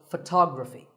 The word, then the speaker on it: photography: say photograph but photography so the first syllable becomes and the stress goes to the second syllable ography so photography in the same way